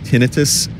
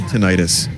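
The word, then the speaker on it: tinnitus: check it out also apparently it's pronoun pronounced tinitus and I hate that listen if I'm going to have this I should be able to just say tontis let let me let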